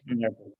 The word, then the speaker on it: nervous: Nervous.